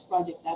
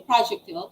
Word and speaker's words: projectile: so net projectile so we usually heard it as projector but it's actually projectile it's known as all